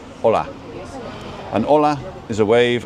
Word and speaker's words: hola: The H is not pronounced at all, ever, right? So hotel is hotel, right? Hola is hola.